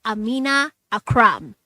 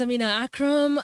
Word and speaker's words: Amina Akram: ready to talk to her her name is Amina Akram Amina Akram did I pronounce it yes you did yes you did